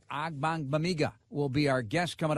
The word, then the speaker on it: Ogbongbemiga: Bears guard Tom Thayer, Jeff Joniak, and Amen Ogbongbemiga, our special guest this week on Bears Weekly.